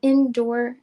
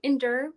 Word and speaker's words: Endure: for you guys the indoor indoor I keep saying it wrong endure Beauty there it is um